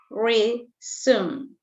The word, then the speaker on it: resume: here for example the first word is resume re zoom z reason okay what is the